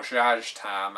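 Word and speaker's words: Szass Tam: Well, Zaztam, or Zhaztam, as some people pronounce it, is undoubtedly the most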